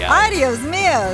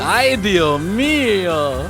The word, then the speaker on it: Ay, Dios mío: Well, it's ay, Dios mío, but the S can be a little silent there if you want to get Okay. like super vernacular. Ay, Dios mío.